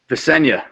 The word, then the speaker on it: Visenya: Can you give us the pronunciation of that name? Is it Visenya? Visenya, correct.